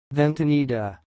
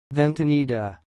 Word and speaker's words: ventanita: of this word is sounds like vent Anita then tanida here we go again vente needa vente needa that's all thanks for